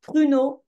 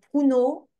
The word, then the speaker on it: pruneau: C'est le pruneau et pas pruneau.